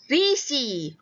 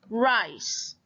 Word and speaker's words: rice: Okay, kalau ikut yang kita belajar last year, ini kita pronounce Risi. Betul kah risi? No. So when the magic E is at the end, I will say its name. So this becomes rice.